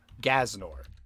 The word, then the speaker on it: G'aznor: the name that we've got is gnor which is spelled g Apostrophe a z n o r gnor gnor okay I like gnor okay the next